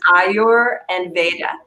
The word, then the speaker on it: Ayurveda: The other thing I've noticed, a lot of people are pronouncing Ayurveda incorrectly. You can do it as two words. So it's Ayur and Veda, nature and knowledge.